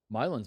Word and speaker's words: Milan: it's called Milan. It's the same thing. I think Like it's my land, but without the D.